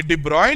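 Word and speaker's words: de Broglie: board second position IT देबराव ने spelling ये लिखी है लेकिन पढ़ने डिब्बा है तो डिब्रॉय ने ये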